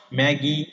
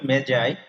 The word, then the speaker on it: Magi: ওই হেনরি রচিত the gift of ম্যাজাই, নট ম্যাগি আর ম্যাগাই, উচ্চারণ হবে ম্যাজাই, গল্পটি তরুণ দম্পতির একে অপরের প্রতি ভালোবাসার চূড়ান্ত দিক নিয়ে আবর্তিত।